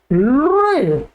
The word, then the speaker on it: लृ: आइएगा, इसका उच्चारण होता है लृ, बोलिएगा लृ लृ लृ।